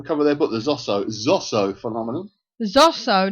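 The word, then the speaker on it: Zoso: I thought it was Zuzu. It's Zosso. Well, he's always pronounced it as Zosso.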